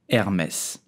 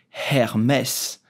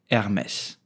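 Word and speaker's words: Hermès: do you pronounce Hermes you will simply say Hermes the H in French is totally silent so do not pronounce it do not say Hermes but just Hermes did you know that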